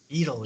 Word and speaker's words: it'll: But I knew it It'll. is. Idle, yeah, It'll. idle, exactly. Yes, and it sounds weird, but it's idle.